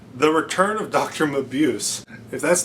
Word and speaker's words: Mabuse: How do I pronounce this? Muse. I had to check that. Mabuse. Okay, it's the return of Dr. Mabuse.